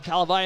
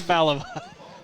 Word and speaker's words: Falavai: He's going to hand it off to Talavai, and he's knocked down in the backfield. Falavai. You just say it. It's Falavai. I said it Talavai the first time, but Valavai. Okay, there you go.